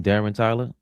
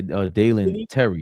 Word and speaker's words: Dalen Terry: And of course, Yabusele, Guerschon Yabusele, was underwhelming, was traded to the Bulls for, how you say his name, Darren Tyler? Yeah, Dalen Terry.